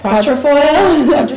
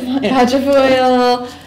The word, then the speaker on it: quatrefoil: Quatrefoil. Quatrefoil.